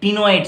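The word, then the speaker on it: ctenoid: तीसरा जो है टाइप, ये रह सकता है टीनोइड scale, C टी ई एन ओ आई डी, टीनोइड scale. ये सी का प्रोनाउंसिएशन साइलेंट रहेगा बच्चों, टी से प्रोनाउंस होगा, तो क्या होगा, इसको टीनोइड स्केल बोलेंगे।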